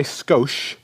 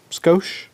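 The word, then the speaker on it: Scosche: these are by sco is that how you pronounce that name sco yeah I think that's right which is like let's just add a little sco scoa It's s s c o s c h e sco and these are the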